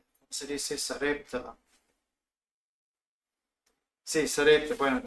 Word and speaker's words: Sarepta: Sí, Sarepta, bueno, en inglés sale como Sarafat, pero es Sarepta en español.